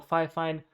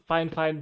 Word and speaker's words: Fifine: get any comments saying it's pronounced fine or fire fine no it's not because i've spoken directly to the creators it's pronounced the fine fine so she wants to